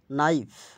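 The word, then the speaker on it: knife: শব্দের শুরুতে কে এন থাকলে উচ্চারণ হবে শুধু দন্তন্য। কে অনুচ্চরিত থাকে উদাহরণ নলেজ জ্ঞান নাইট অসারহী যোদ্ধা নি অর্থ হাটু নাইফ ছুরি নক করানারা আরো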